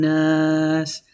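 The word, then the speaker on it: النَّاس: Qul a'udhu bi rabbin nas. Nas, because you're pronouncing double noon.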